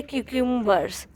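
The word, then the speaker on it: cucumbers: कुकुंबर्स यानी कि खीरे तो इसकी करेक्ट प्रोनंसिएशन होती है कुकुंबर्स कुकुंबर्स ऐसे आर जो होता है ऑलमोस्ट साइलेंट होता है इसे पढ़ते हैं कुकुंबर्स तो क्या हो गया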